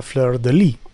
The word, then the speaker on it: fleur-de-lis: Lily, as we know, is the fleur-de-lis. Fleur-de-lis. The S is silent because it's French.